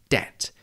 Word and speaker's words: debt: show its Latin origins, so a silent B was added, hence debt, D-E-B-T. And the other main historical